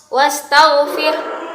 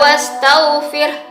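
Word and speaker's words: وَاسْتَغْفِرْ: Sebelum wakafnya maksudnya ustazah rabbika wastaghfir ya. Bukan wastaghfir tapi wastaghfir. Ada hembusan napas yang keluar dari mulut.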